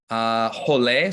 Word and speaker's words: rolê: Rolê, so you have that R there, making an H sound. Rolê is a basic escape from a half squat. It means roll, just like it's spelled, but it's pronounced rolê in Portuguese.